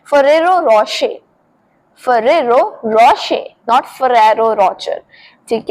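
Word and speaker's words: Ferrero Rocher: सो इसे बहुत सारे लोग बोलते हैं। इनफैक्ट मैं भी इसको यही बोलती हूं। फरारो रचर पर इसे सही तरीके से बोलते हैं फरेरो रशे तो रचर नहीं बोलना है रोशे बोलना है फरेरो रशे फरेरो रशे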